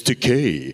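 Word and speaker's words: Takei: George will always say it's Decay rhymes with gay that should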